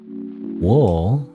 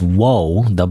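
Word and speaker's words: を: I didn't see I just read um they wi or o technically you pronounce it even though by itself it's wo wo but like in a sentence it's o we just pronounce it o it is a particle usually related to a verb.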